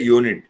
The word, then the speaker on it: unit: the first letter but when we pronounce it the sound refers to the consonant that is a unit a university yeah one way these sort